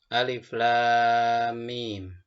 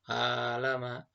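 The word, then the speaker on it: الم: Jadi tidak boleh dibaca alama, nggak boleh, atau alam. Ditulisnya begitu, tapi dibacanya satu persatu. Alif lam mim.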